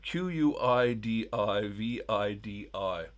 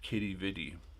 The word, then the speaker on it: Quidi Vidi: Uh Q U I D I V I D I. Uh there's two pronunciations of this. Some pronounce it Quidi Vidi. Most I think pronounce it Kitty Vidi.